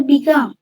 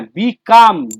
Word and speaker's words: become: স্যার বিকাম। হ্যাঁ, বিকাম। বিকেম কিন্তু নয়, কেউ কিন্তু বিকেম বলবে না, বিকেমটা হচ্ছে পাস্ট।